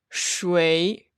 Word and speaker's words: 谁: 谁 shui. Both pronunciations are okay, but I would say that 谁 is used more commonly.